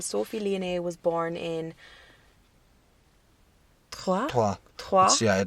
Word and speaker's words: Troyes: Troyes. Yeah, they said it's pronounced the same as we tree.